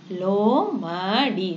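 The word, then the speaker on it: लोमड़ी: ஃபாக்ஸ்னா என்னது லோமடி லோமடி. இந்த டா வந்து சாஃப்டாக ப்ரொனவுன்ஸ் பண்ணணும்.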